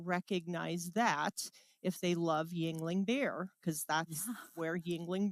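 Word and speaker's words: Yuengling: you say it Yingling Yingling yes yes Yingling Yingling I would not have guessed that because it looks like jingling yes jingling yes so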